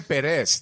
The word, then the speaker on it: Pérez: say all you motherfuckers are saying it wrong. The emphasis. Jorge Pérez, that's his name. The emphasis is different.